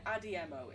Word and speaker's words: Adiemo: Adiemo is how it's pronounced, but like, my brain's weird sometimes.